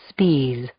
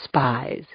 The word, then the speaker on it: Spies: That's how he pronounced it. Spes, not spies.